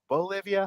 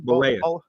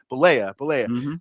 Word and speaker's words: Bollea: to argue that Hulk Hogan and Terry Bolivia, how do you say his last name? Bollea. Bollea.